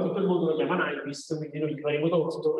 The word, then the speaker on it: Nyquist: Allora, innanzitutto, diciamo, dove ho usato le citazioni, in teoria il suo nome si pronuncerebbe Nyquist, non so se ve lo ho detto. Nyquist, perché lui era svedese, se non mi sbaglio, uno svedese naturalizzato americano.